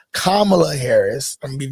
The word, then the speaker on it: Kamala: So it's Kamala Harris.